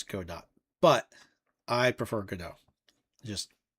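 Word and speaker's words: Godot: Uh yeah, this is uh I am making this game in GDAU. Yep. Or go dot. Sorry. If you want the proper pronunciation, it's go dot.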